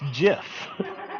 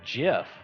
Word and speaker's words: GIF: hello sir loin of Buffalo he says it's JF the J he's wrong he's wrong it's that simple sir Lo of Buffalo says it's with a J and GIF the peanut butter is a wonderful thing however